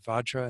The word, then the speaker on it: Vajra: Again, that word Vajra in the first line is usually pronounced Benza by Rinpoche, and then Benzana in the second to last line.